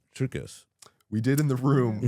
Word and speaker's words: Triukas: And it is Triukus.